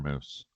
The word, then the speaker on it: Moes: given name Victor moose there you go now for the listeners last name is actually spelled m o e s but you pronounce it how Moose like the animal the hair product the